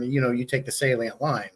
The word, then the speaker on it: Salient: the proper pronunciation yeah I see most people actually think it says silent uh but it's it's you said you've said it right right off it's Salient Salient Aquatics and I the